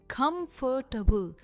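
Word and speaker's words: comfortable: सबसे पहला है कंफर्टेबल। अभी काफी सारे लोग इसे टेबल कह देते हैं। यह टेबल नहीं है। यह है टबल। कंफर्टेबल और कम पर इसका स्ट्रेस है।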